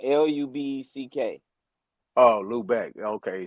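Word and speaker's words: Lübeck: ship Jesus, was in fact the Jesus of Lubbock, Lubbock, a 700-ton ship purchased by King Hold Henry on, hold on, hold on. That's Fifth, Sixth, Louvo. Seventh, Eighth. Louvo. Lubeck is spelled Lubeck. Oh, Lubeck.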